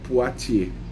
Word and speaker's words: Poitiers: A gente escreve Poitiers, mas a pronúncia é Poitiers. Então, Ladária conhece muito bem Hilário de Poitiers, que tem uma famosa obra que se chama como o Tratado de Agostinho de Trinitate.